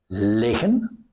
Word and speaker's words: liggen: Notice that here, the pronunciation is important. Liggen, static. Leggen, movement.